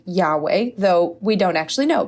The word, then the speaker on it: Yahweh: Divine approval Divine approval so God's name in the Bible the Holy Name Of God is spelled using the Hebrew consonance yod hey VAV hey and for our purposes we could call them why H wh it's typically sounded out something like Yahweh though we don't actually